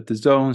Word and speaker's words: DAZN: short I guess a short um introduction about the zone so dazn uh the zone is the is